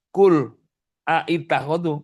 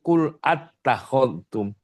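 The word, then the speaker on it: أتخذتم: Makanya bukan kul aitakholtum, kul attakholtum. Bacanya mesti kul attakholtum.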